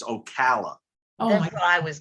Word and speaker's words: Ocala: up in there all right you yankee it's ocala oh my god i was gonna say that